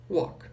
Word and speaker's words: walk: Lembrando que a pronúncia dessa palavra aqui não é walk. Esse L não é pronunciado, ele é um walk, ok?